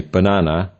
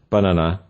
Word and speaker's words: banana: To explain this more, let's look at the word banana, which is stressed on the 2nd syllable. Compare the second syllable to the first and last ones to understand the nature of the word stress. We say banana rather than banana or banana.